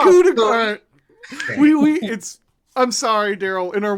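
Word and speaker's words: coup de grâce: It's not coup de grace. I'm sorry, Daryl. In our Wednesday game, we had an argument how to pronounce coup de grace, and and then hilarity ensued.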